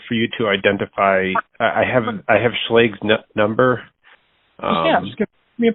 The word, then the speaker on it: Schlage: So it would be a mortise lock, Schlage mortise lock, or Flagge, as the Germans would pronounce it.